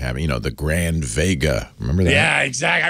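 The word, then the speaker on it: WEGA: always like to have you know the grand Vega remember that yeah exactly I remember the grand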